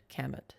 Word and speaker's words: Kamut: But camlet flour, it's spelled like Kamut. Okay. Kamut.